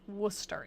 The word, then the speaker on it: Worcester: Yeah, Massachusetts pronounces everything weird. Worcester. That's how we say it. Like Worcester. Yeah, exactly. W O S T E R.